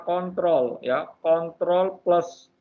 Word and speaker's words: CTRL: Kalau ini bacanya adalah kontrol, ya, kontrol plus O.